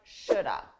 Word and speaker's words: should have: should have native speakers we combine this to sound like Shoulda Shoulda notice that L is silent should have should have